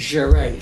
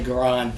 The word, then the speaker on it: Charade: Charade, thank you, Charade. I always want to say Garan, but it's Charade. There's no N in it.